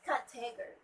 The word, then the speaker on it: category: It's category. Category. The stress should be at the first syllable.